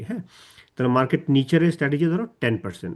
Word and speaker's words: nicher: আর market নিচার উচ্চারণটা কিন্তু তখন কিন্তু মার্কেট নিশার বলবো না, তখন বলবো মার্কেট নিচার, NICHER। আর এখানে যখন বলবো নিশ বলবো নিচ না, নিশ। ওইখানে বলবো মার্কেট নিচার, এখানে বলবো নিশ।